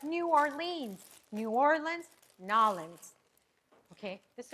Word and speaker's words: New Orleans: The Burley Earl says Nolans. Nolans. That's how you Okay. pronounce it in a New Orleans accent. Nolans. Hey, you're right. People are like, New Orleans.